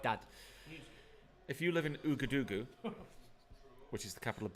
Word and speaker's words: Ouagadougou: If you live in Ouagadougou, which is the capital of Burkina Faso.